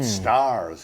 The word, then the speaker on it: stars: Did you notice that he's pronouncing the r because he was rhotic? The dropping of the r in between vowels wasn't a thing in the Middle Ages.